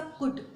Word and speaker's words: could: Mostly लोग इसको क्या पढ़ते हैं, कुल्ड पढ़ते हैं, क्योंकि इसमें एल है, बट इट्स टोटली रॉन्ग। आपको क्या पढ़ना है, इसे कैसे प्रोनाउंसिएशन करना है इसका, कुड, COULD, कुड।